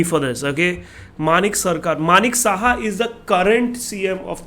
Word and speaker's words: Manik Saha: And it's a very interesting one because Tripura was a CPM thing, and the chief minister was Manik Shah, Manik Shah, whatever.